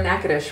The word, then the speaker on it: Natchitoches: You've seen the spelling for Natchitoches, right?